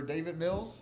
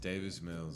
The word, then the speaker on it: Davis Mills: Time for David Mills. Did I say his name? Daniel Mills? Davis Mills.